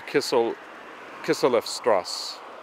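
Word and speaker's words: Kisseleffstraße: That thing that I was pronouncing like a B is actually an S. So it's Kislev Strasse.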